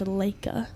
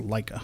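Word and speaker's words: Laika: I've heard it pronounced Leica. Leica. Oh, okay. Only based on the arcade fire. It's called Leica.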